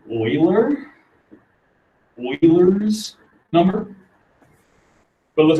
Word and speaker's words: Euler: kind of looks like euler right it's actually pronounced like euler euler's number but it looks like euler you